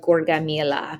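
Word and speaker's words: Gaugamela: battle near syria of gorgamila that's how you pronounce that the battle of gorgamila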